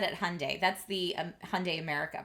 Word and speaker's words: Hyundai: that it is pronounced Hyundai. and they said if you have trouble remembering it think Sunday Monday Hy Sunday.